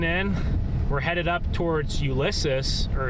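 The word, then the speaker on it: Ulysses: So yeah, if you're just tuning in, we're headed up towards Ulysus or is it how do you pronounce that? Ulac. Ulaces. Ulaces. That's it.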